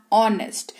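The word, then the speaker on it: honest: यू आर ऑनेस्ट। यहां पर एच ओ एन ई एस टी है। लेकिन इसको ऑनेस्ट पढ़ते हैं। एच जो है वो साइलेंट रहता है।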